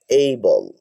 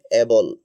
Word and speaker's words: able: তো এইভাবে যদি আপনি বলেন উচ্চারণগুলো, যেমন এর উচ্চারণটা আপনি আগে বলতেন এবল, এবল টু, কিন্তু এখন হবে এইবল টু,